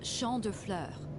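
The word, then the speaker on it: Champs de Fleurs: Champs de floors? How do you say that? It's Champ de Fleurs. It means field of flowers.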